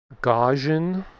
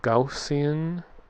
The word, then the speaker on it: Gaussian: I used to just say gajin. Then I hear gaussian.